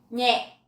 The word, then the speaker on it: nhẹ: Nhẹ, nhẹ. So this one has dấu nặng. So you have to be very nặng.